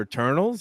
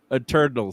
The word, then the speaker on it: Eternals: So I mean, would I rather watch that again or Eternals? I mean, I'd rather watch that movie. I think you're pronouncing that wrong. Eternals.